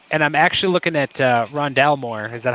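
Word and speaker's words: Rondale Moore: I'm looking at Aziz, and I'm actually looking at Rondell Moore. Is that how you pronounce his name?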